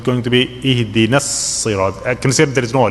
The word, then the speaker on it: اهدنا الصراط: Okay, na here you see with the alif, that alif is silent. Okay, you have to connect the noon with sad, so it's going to be ihdina as-sirat. I consider there is no alif. Ihdina as-sirat.